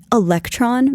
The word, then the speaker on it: Elektron: It featured an ultralight body made of magnesium alloy called, it's Electron, but it's spelled Elektron.